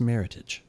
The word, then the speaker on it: Meritage: Yes, I think it's pronounced meritage. Meritage. I have read that it's meritage like heritage.